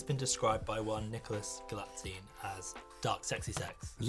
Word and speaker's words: Galitzine: I've written it I've phonetically as butchered well. it and many I've- times. Galitzine. Galitzine.